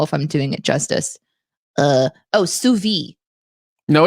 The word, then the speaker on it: sous vide: Now this person who is French says you have to pronounce the D. Yeah. Sous vide.